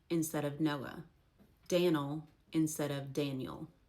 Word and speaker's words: Noah: That one I'm not really even sure if it's actually pronounced Sina because I've never heard it pronounced that way. So you guys tell me. Noe instead of Noah.